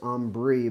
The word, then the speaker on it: Ambre: It's called Ambre, A-M-B-R-E-E, so maybe it's Ambre, but I think it's pronounced Ambre. as in amber is what that's supposed to mean.